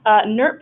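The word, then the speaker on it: NWIRP: northwest immigrant Rights Project Newark is how we pronounce that the W is silent we're a statewide organization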